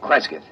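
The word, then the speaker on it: Cresgyth: record it instead as um well, I'll I'll spell it. C R E S G Y T H. Kreskith.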